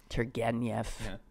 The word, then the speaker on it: Turgenev: So there's some of you sitting around reading Turgenev. That's well pronounced.